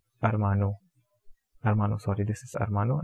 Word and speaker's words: hermano: And I told you before that the word starting with A, we generally have H, H silent. So the pronunciation of this, it is going to be Armana and Armano.